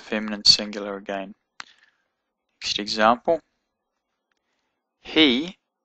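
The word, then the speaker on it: היא: He, even though it's got a vav in it, it's got the hirak, so it's actually pronounced he.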